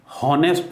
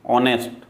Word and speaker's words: honest: कई बार एच जो है वो साइलेंट होता है, जैसे HONEST, हॉनेस्ट नहीं बोलते बल्कि ऑनेस्ट, वहाँ एच साइलेंट है।